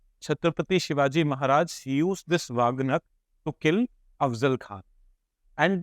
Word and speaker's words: wagh: wag am I pronouncing it correctly people from correct me n okay vag vag is AI term for B tiger is